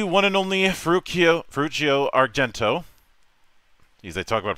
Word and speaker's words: Ferruccio Argento: to be here so yeah it's ferruccio Argento and so for anyone listening then they already uh know how to pronounce my uh ridiculously complicated Italian name so uh great to